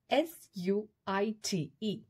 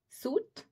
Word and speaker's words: suite: Next word is S-U-I-T-E. Suit? No. It's not suit, it's suite.